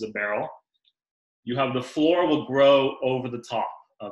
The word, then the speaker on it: flor: You have floor and you have no floor. Now, floor is spelled F-L-O-R.